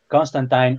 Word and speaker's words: Constantine: comic he did say Constantine rhymes with fine that's what it is